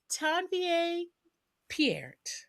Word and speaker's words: Tanvier Peart: So, Tanvier Pierre, yes.